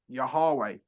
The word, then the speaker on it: Yahweh: Wa, Ha, which is Yahweh. So Yod is in Arabic Yah. Okay. Hay is Ha, so Yaha, and then Vav is Wa, and then Ha again. So that's Yah, Ha, Wa, Ha, Yahweh, Yahweh.